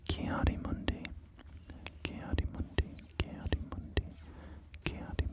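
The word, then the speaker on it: Ki-Adi-Mundi: Or are you sorry, I'm suddenly recalling that I pronounce his name in a weird way. Kiadi Mundi, right? Isn't that how it's actually pronounced?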